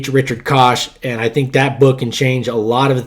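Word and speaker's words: Koch: So go read the 8020 principle by Richard Kosh and it's spelled Ko C Richard Kosh.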